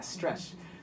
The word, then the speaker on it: Stretch*d: Yeah, so that's spelled STRETCH asterisk D. Yeah, Stretched.